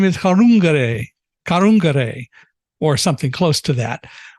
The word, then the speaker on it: Kadungure: First name is Chenai, and her last name is Kadungure, or something close to that. There's a D in it, but people, if you're speaking appropriately, you don't pronounce the D.